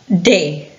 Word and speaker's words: the: De. The book, the chair, the child, the table. If the noun that follows starts with a vowel, we pronounce D.